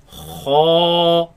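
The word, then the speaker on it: خاء: Kha, Kha, kha, kha, kha, kha, kha. kha. Now this letter comes from the top part of the throat. You can feel it in the back of the mouth.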